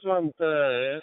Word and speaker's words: Svante: If I you correct your name, pronounce your name, Swenter. Romeo 6X Whiskey, or please. Yes, Mr. Leonid, pronounce is very good. Svante, it's correct.